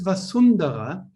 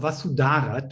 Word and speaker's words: Vasudhara: So actually it is Vasundhara, or Vasudhara, to pronounce her name this way.